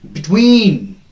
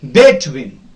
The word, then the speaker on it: between: Aside, then between. You can't pronounce it as between. No, the first syllable is not stressed here. The second syllable is stressed.